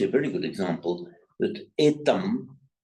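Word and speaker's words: etaṃ: Here you see a very good example that etam, it's pronounced there as a pure M because it's followed by another M, etam mangalam uttamam. And if it's followed by a vowel, it's also pronounced as a man. That's why here, etam mangalam uttamam, the Thais could slip into pronounce it etang mangalam, but the Indians wouldn't like that, and the Sri Lankans, the Sinhala speakers wouldn't like it either.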